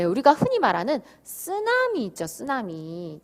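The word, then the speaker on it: ツナミ: 그게 쓰나미죠. 근데 사실은 쓰나미가 일본어에서는 쓰나미가 아니고 쓰나미가 일본어에서 온 건데 쓰나미가 아니고 쓰나미예요. 쓰나미. 트 발음 납니다.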